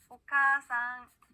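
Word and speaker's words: おかあさん: 자, 봤을 때요, 어머니라고 하는 일본어 단어는요, 오카아상이라고 읽는 게 아니라 오카상이라고 카를 길게 발음해줍니다. 한번 따라해볼게요. 오카상.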